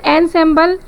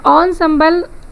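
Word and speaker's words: ensemble: Traditional एंसेम्बल, यहाँ पे एंसेम्बल का प्रोनाउंसिएशन ऑनसेम्बल की तरह बोला जाता है उसको.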